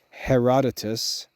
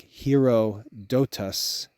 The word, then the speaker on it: Herodotus: most famous Greek historians Herodotus his name is spelled like hero dotas he wrote the history